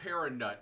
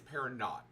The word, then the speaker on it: Paranaut: It's not Paranut, it's Paranaut.